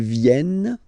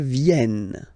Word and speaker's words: viennent: Ils viennent, elles viennent. Ils viennent, elles viennent. All right? E-N-T, you don't pronounce them.